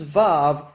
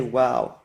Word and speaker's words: Vav: The reason is that WAW versus VAV is merely a difference of dialect. In different dialects of Hebrew, some people say VAV and some say WAW.